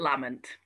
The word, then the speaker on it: Lamont: 18th clan chief of the clan lamont at lament that's how i've been told it's pronounced are there still like clan chiefs and